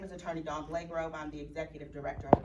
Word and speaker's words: Blagrove: My name is Attorney Dawn Blagrove. I'm the Executive Director of Emancipate NC. Okay, spell that for me, please.